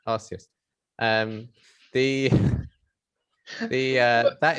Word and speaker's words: Arceus: just just pause there that's how you pronounce it i'll see us yeah oh yes yeah okay like uranus but arceus um the the uh